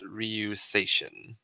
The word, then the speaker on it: RyuSeishin: Because I'm terrible at pronouncing names. Sure, it is RyuSeishin.